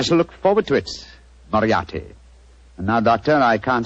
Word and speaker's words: Moriarty: Dear me, I have so much trouble with my name. People will either misspell it or mispronounce it. I'm afraid I'll have to begin calling it the way it looks.